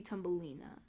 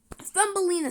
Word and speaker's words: Thumbelina: Thumbelina. Thumbelina. Tippy. Tumbelina and Thumbelina are like really similar. That's why if I ever say her name again, I'm probably going to call her Tumbelina and not Thumbelina because they're because they're just so similar.